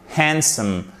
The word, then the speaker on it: handsome: Donc faites vraiment l'effort de bien prononcer, donc de ne pas prononcer le D. Handsome, handsome, sandwich, sandwich, sandwich, handsome,